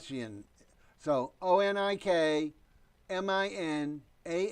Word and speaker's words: Onik: finding your information and your first name pronounced Oh Nick is that correct Oh Nick only get on ik I'm sorry and that's bailed oh and I came very short and said on ik and in the last